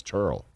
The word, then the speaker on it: Terrell: And now here comes a guy who spells the name the same way, and he's like, no, it's not Terrell, it's Turl.